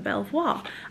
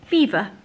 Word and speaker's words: Belvoir: is so embarrassing have you been calling them Belvoir I mean do you not think anyway I